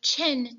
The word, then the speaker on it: Qin: The next is the Qin dynasty. Now, I know it's pronounced, or it looks like it's got the Q there, but it is Qin.